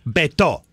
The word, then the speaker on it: Beto: Beto.